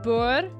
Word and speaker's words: Boer: He adds an extra syllable where there's no syllable. He goes Boer. Boer, mate. Yeah, like poor.